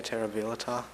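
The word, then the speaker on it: terribilità: So even if he had made the connection to that word we know terrible, he still would have missed that schwah sound in the next to last syllable.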